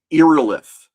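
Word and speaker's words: Irillyth: I pronounce it Irilith.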